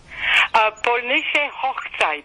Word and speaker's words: Polnische Hochzeit: But how do you pronounce it? Polnische Hochzeit.